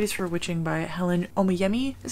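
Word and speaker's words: Oyeyemi: reading are white is for witching by helen omiyemi is how you say her name and then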